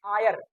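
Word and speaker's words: heir: होता है बाल अगला एच ई आई आर इसको पढ़ते हैं आयर आयर का मतलब होता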